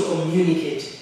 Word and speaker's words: communicate: information information information the main is where we stress communicate we need to communicate we need to communicate the new is what we stress and the stress is in the middle a friend and we